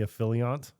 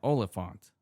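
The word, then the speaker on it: Olyphant: Yeah, Oliphant. Affiliant. Oliphant. Affiliant. There's no I in the word though. The Y is the I.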